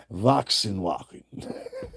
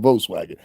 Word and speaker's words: Volkswagen: I was like, how you say that Voxinwoken. Not Volkswagen.